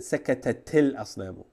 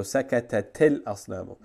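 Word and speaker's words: سَكَتَتِ الْأَصْنَامُ: Well, it should be sakatat, but because you have a sukun here and a sukun here, you cancel this sukun, and for pronunciation purposes, you continue with a kasra. So sakatatil asnamu.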